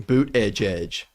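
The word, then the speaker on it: Buttigieg: say his name because everyone was like phonetically doing boot Edge Edge boot Edge Edge booted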